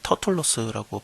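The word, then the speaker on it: Τέρτυλλος: 그 더둘로라고 하는 것은 터툴로스라고 발음이 되겠죠.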